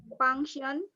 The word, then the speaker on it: function: If this one is f, function, formula, definition, f.